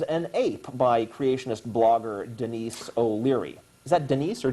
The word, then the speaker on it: Denise: your granny was an ape by creationist blogger Denise O'Leary. Is that Denise or Dennis? It's Denise.